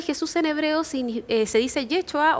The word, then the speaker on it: Yeshua: El nombre de Jesús en hebreo se dice Yeshua o se escribe Yeshua y significa Jehová es Salvador o Dios es Salvador.